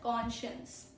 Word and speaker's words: conscience: Inner sense of right and wrong is known as conscience. Okay? Pro tip is SC blends into SH sound.